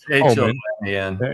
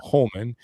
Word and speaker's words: Homan: Obviously, yeah, it's H-O-M-A-N. Yeah, Holman.